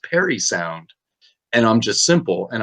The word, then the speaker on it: Parry Sound: prairie prairie sound but it was actually supposed to be pronounced like a name perry and now it is